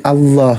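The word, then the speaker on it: الله: Nah, maka pelafalannya ikuti kaidah bahasa Arabnya yaitu bukan tidak dominan tidak juga a jadi Allah gitu ditebalkan. antara A dengan O.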